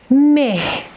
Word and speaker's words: مه: As you see, I am pronouncing he at the end, but This is the difference.